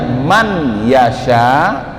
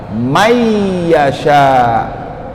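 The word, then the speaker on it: مَنْ يَشَاءُ: Jadi bukan bacanya man yasha, tapi apa? May yasha. May, suara nunnya dimasukkan ke dalam suara huruf ya.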